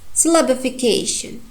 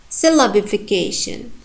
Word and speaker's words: syllabification: If you paid attention, I pronounced 2 syllables stronger than others, and the strongest one is cation, k, and also the next strong one, la. Syllabification. Syllabification. And in this word we have not tertiary stress. We have some unstressed syllables, 0 degree of stress. S, the first syllable, and bifi and shin.